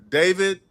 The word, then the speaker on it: D4vd: If you guys are not aware, I'm talking about the murder mystery surrounding singer/ rapper David. All right. His stage name is D4VD, right? But I think it's pronounced David.